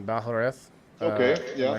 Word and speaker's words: Balhareth: I don't want to butcher your last name, Balhareth.